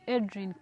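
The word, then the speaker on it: Edrine: example oh I am Adrian and my name when I spell it is e d r i n e then is k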